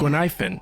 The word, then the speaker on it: Guinaifen: Guinaifen. Oh, I've been saying her name wrong.